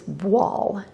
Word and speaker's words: voile: Now, after looking at this incredibly sheer cotton fabric, the next thing that comes to my mind is voile. It's spelled V-O-I-L-E, and voile means veil in French.